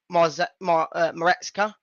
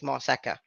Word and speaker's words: Maresca: We all thought it was Maresca, but then you just changed the 2 letters around. It's Marseca. So, not too much, but yeah.